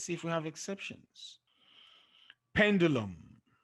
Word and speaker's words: pendulum: the end okay so pendulum and curriculum there they are the exceptions pendulum is stressed on the first level curriculum on the second